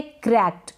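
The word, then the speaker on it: cracked: क बन रहा है, और ईडी को हम पढ़ रहे हैं ट, वॉइसलेस है ट, मतलब बहुत कम उच्चारण हो रहा है इसका। ये है क्रैक्ड, क्या है क्रैक्ड, ट वॉइसलेस है, बहुत कम बोला जा रहा है, ठीक है क्रैक्ड।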